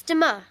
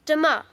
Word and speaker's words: demain: It's demain. Sorry, can you say that again, please? Yes. It's demain. How do you spell that?